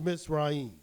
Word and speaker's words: Mitzrayim: little do people know the Hebrew pronunciation the correct pronunciation of Egypt is not Egypt at all it's MIT's right so